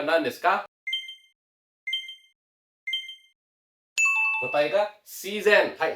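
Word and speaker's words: 自然: Pertama adalah si ya, di sini itu adalah shizen dake ya. Jadi biasanya itu shizen itu udah pasti si ya.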